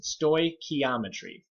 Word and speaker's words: stoichiometry: those one on this screen so please don't pronounce with any stores in the name it's stoy ke ometry big fancy word you don't know much about